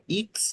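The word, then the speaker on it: X: পাও বে বে ইক্স ইপসিলন ইপসিলন এক সেট। এক ইপসিলন জেড হুম। হুম। এক্স এর ক্ষেত্রে এক্স উচ্চারণ হবে না, এক্স এর ক্ষেত্রে হবে ইক্স।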